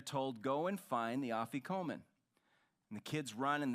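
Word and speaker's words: afikoman: bread still done today is placed in a officomen that's the name of this linen I want credit for pronouncing it correctly simply means to come later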